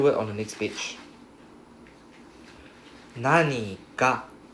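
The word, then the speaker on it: 何: told you this nani can be pronounced as nan can also be pronounced as nani right depending on the particle behind it. So in this case nani right is pronounced as nani.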